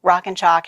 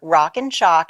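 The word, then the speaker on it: Rockin Chalk: all that yeah sure rock and chalk and now I have to spell it because it sounds like a shock but it's like a chalk board rockin ro ckin ch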